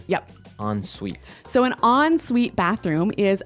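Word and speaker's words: en suite: hyphen s UI T so even though it's e n we pronounce it like an o n yep on Suite so an onsite bathroom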